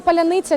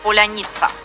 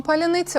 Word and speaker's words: паляниця: символом гостинності скільки словом паролем його не могли вимовити ні окупанти які пройшли в Україну ні російські пропагандист слово клубника по-українськи звучит Поляниця если ответил неверно или неправильно произёс тобто с